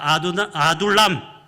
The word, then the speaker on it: 아둘람: 발음이 좀 어렵긴 하죠. 한번 따라해 볼까요? 아둘람.